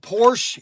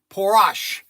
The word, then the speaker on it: Porsche: And it's not called Porsche. It's called por porash. It's a called a por por 911. Porash. Okay. This is for people that don't know how to really pronounce things and so I'm kind of correcting their pronunciation. It's porous.